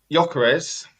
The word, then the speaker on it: Gyökeres: Gyökeres, actually said it right for once, couldn't cut it in the Championship in the most physical league.